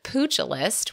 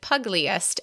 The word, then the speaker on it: pugilist: I think our favorite mispronunciation by far is pugilist, which that's the correct pronunciation, but we said pugliest and then thought of that cute pug in boxing shorts and boxing gloves and so cute.